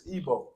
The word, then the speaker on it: Igbo: I forgot how to pronounce it. No, you got it. It's fine. It's fine, King. But- It's Igbo.